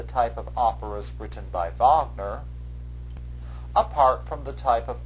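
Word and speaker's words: Wagner: And you should be able to associate it with the German composer in this unit, Recart Vagner. Make sure that you pronounce Vagner's name properly.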